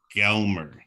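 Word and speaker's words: glmer: this whole conversation is I believe it's pronounced gelmer oh okay yeah we're trying different things gelmer okay when it's not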